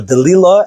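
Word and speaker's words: Delilah: him and he marries the famous Delila as it's known now or deila as it's in the Torah pronunciation and she recovers the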